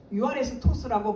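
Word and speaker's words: εὐάρεστος: 이 뜻이 유아레스토스라고 발음하는데, 이 뜻이 완전히 일치하는 것, 용납할 만한 또는 뜻이 같다.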